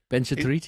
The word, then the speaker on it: Benchetrit: Is that how you pronounce it? Benchetrit? Benchetrit, yeah.